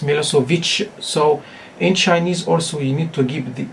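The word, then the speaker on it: Milošević: original language in English some people may may read or pronounce it as Milosevic but in his Yugoslavian or Serbian language its Milosevic so in Chinese also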